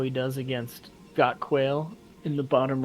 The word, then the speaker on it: Quail: kale God Quail yeah I'm not sure how to pronounce it so it's Quail it's a a bird okay thank you for